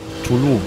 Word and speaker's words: Tulum: Tulum, spricht man es aus.